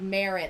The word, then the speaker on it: Merritt: Matt, he says it's pronounced like Merritt, like Merritt, yeah.